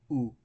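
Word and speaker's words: ου: I add upsilon to omicron, and it becomes u as in put.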